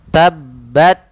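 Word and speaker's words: تبت: Maka kita membacanya tabbat, tabbat, ya, di akhirnya saja.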